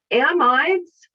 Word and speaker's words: amide: the difference between them some people call them a medes and a means which sound like the exact same word to me so i pronounce amide so there's a lot of different pronunciation the pronunciations of uh an amide i say it to differentiate from amine okay uh some people